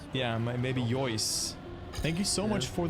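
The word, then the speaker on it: Yeus: And the donation comes from Yois. How to pronounce it? Y-E-U-S. How would you pronounce that? Yois? Maybe? I don't know. Yois? 44. Personally, I would, yeah. Like Royce, like Marco Royce. Yeah, maybe Yois.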